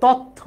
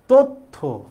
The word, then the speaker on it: তথ্য: যুক্ত ব্যঞ্জন তাহলে যুক্ত ব্যঞ্জন থাকলে আগে যে ত এর সাথে অ আছে এই অ এর উচ্চারণটা কিসের মত হবে? ও এর মত হবে। তো এর উচ্চারণ যদি ও এর মত হয় তাহলে তো তথ্য না। এটা হবে কি? তথ্য। তাহলে আমরা ত এর উচ্চারণটা ও এর মত দেব।